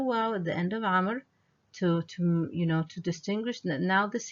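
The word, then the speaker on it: عمرو: Okay, so this here is a long vowel, and always the name Amr, it's written with a waw, but not pronounced. Okay, so Amr they add the waw to distinguish it from the name Umar.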